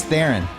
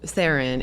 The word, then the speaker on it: Theron: started, ages ago said, if you change your last name to Theron, it would be easier for Americans. Like the spelling or just the pronunciation? The pronunciation. Okay. So we kept the spelling, but it's just a different pronunciation.